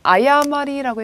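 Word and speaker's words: 誤り: 보도, 호도니 아야마리라고 읽어주죠. 아야마리. 자, 뭐예요?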